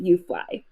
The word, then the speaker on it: UFLI: Lane is the director of the University of Florida Institute, aptly pronounced UFLI.